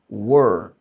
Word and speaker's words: were: Então fala primeiro um u e depois um e aí vai ficar mais tranquilo.